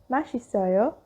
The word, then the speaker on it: 맛있어요: Although it is spelled as mat, it, ayo, it is pronounced as 맛있어요. The shiot and sang-shiot took over the place of the iang on its succeeding block and is pronounced as its original pronunciation.